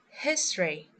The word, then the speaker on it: history: As you can see we don't pronounce the vowels in these words.